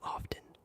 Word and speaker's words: often: Do you pronounce the T in often? Yes. Isn't that how you're supposed to say it?